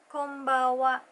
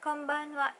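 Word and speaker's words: こんばんは: you might hear it it's like combo WA the end on the second syllable is missing but you can also say combo konbanwa is also okay the next space that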